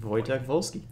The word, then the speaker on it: Wojtek Wolski: awesome name cuz everything's at w but it's pronounced wojtek wolski gotta love you know don't use our views